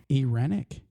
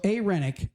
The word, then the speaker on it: irenic: n i c but in the little pronunciation the I is a Yee I ran Ian yeah it sound like they were saying AIC ex it's I but it's it's pronounced a AIC so a renic um man I got